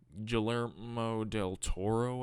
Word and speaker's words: Guillermo del Toro: tripe such as this yup on this viewing Guillermo del Toro I think it's pronounced I think that's how you pronounce doesn't